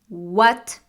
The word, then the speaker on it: what: which is what what the correct pronunciation is what not what there is no health sound it's only the work sound what when can we